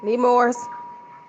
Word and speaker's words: Nemours: floor thank you attorney this is nemours that's how you spell it need mores anymore children hospital let